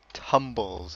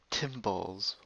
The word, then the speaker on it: Tumbles: guess he's the organizer tumbles that's how you say it people say it like um timbles well some people do maybe because casha sings Timber and they assume that there's an eye but t um so